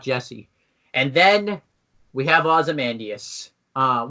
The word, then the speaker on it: Ozymandias: Up until, Ozymandias, but then that's it. Hey, you pronounced it right for once.